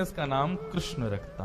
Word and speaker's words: कृष्ण: बंधुओं, मेरा ऐसा एनालाइज है कि कृष्ण शब्द का उच्चारण अधिकतर लोग अशुद्ध करते हैं। लोग या तो किशन बोलते हैं या कृष्ण बोलते हैं, मतलब जो भी बोलते हैं।